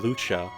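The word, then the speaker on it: Lucca: least a couple characters pronounce her name Lucha, which I'm not sure which language that is, but I've always said Luca.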